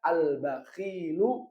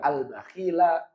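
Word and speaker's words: البخيلُ: rafanya dan dengan dah jadi bacanya albakhilu mazmumun bukan albakhila bukan albakhili tapi albakhilu contoh berikutnya yang kedua alauladu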